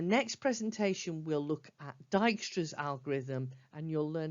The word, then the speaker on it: Dijkstra: called Dijkstra that's how that first word is pronounced Dijkstra and a star Dijkstra is a way of working out the shortest